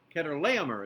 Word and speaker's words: Chedorlaomer: Ilan, qui fait partie de l'Iran, était dirigé par un roi, Kedorlaomer is the way it's pronounced.